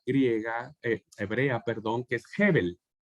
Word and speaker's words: Hebel: de una palabra griega, hebrea, perdón, que es Hebel. Hebel. Que se traduce, que significa aire, respiro, vapor o nada. ¿Cómo Nada. se escribe?